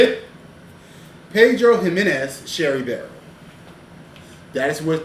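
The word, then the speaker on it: Pedro Ximénez: Pedro Jimenez Sherry Barrel. That is what this whiskey is finished in. It's finished. The X is pronounced as an H. Pedro Jimenez Sherry Barrel.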